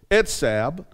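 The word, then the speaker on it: עצב: Now we said the word sorrow is a Hebrew word which is pronounced etzab, and it means to hurt, have pain, and toil.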